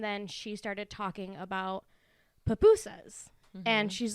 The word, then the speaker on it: pupusa: I think they're pronounced pupusa, like pu instead of pi.